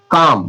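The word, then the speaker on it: comb: काम। काम काम। काम काम मतलब कंघा। अब कॉमब कॉम्ब पढ़ते थे ना कॉम्ब मतलब कॉम्ब मतलब कंघा नहीं कि कॉम्ब भी साइलेंट है यहां। कॉम मतलब कंघा।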